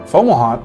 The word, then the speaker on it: Fomalhaut: Fomalhaut, if you look it up, it's spelled F-O-M-A-L, Fomal, and then Haut, like, no, never mind. I was going to say that's hot in French, but that's not. I showed. But Haut is spelled H-A-U-T. So F-O-M-A-L-H-A-U-T, Fomalhaut.